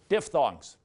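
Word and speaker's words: diphthong: to the person next to you and say diff thongs or don't diff thongs are vowel combinations two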